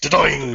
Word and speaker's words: Dordogne: Everyone seems to say it slightly differently, but I say Dordogne. Is that right? Yes. You make it sound like the noise that a ball would make. Dordogne.